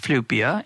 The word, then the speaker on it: Flyvbjerg: I think I got that right, but it's pronounced Flyvbjerg, and we will, of course, have links to